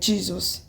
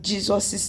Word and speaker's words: Jesus': Like, you don't pronounce the ones that you do not pronounce the s after the apostrophe, like Jesus. You say in Jesus' name, not in Jesus's name.